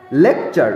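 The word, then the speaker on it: lecture: তারপর দেখো শেষেরটা লেকচার, LEC, lake, TURE, চা।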